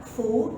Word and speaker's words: 福: Nah, biasanya kebahagiaan itu kalau karakter ini, ya, kalian mungkin masih ingat bacanya fu, tapi dia diposisikan terbalik.